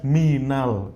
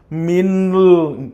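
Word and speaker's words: مِنَ الْ: Nah, di sini ada harfu jar min ya aslinya min ya kan cuman dibacanya minal karena ada dua sukun ketemu di sini jadi salah satu harus ngalah ya kan? Heeh. Kalau enggak ngarah bacanya kacau kita minl. kan enggak bisa gitu ya. Heeh. Makanya salah satu harus ngalah. Siapa yang ngalah? Yang harakat sebelumnya ya menjadi apa? Menjadi fathah minal maktabi.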